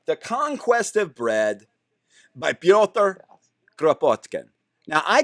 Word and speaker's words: Piotr: have something around here his name was actually spelled p-y-o-t-r but a lot of these english um versions will spell it p-e-t-e-r but that's why i call them piotr it's this that thing